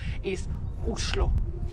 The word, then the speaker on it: Oslo: and actually in Norwegian the right way to pronounce the name of the capital islo Oslo is a great starting point to spend